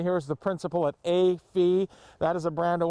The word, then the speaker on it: Fille: That winery is Fille Wines. I believe that's how you pronounce it.